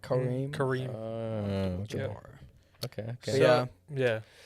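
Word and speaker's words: Kareem: yeah k Kare Kare they say it right kareim kareim okay okay yeah yeah his name speaks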